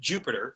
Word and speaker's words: Jupyter: It's called Jupyter Notebooks, often pronounced Jupyter, spelled Jupyter. It's a way of using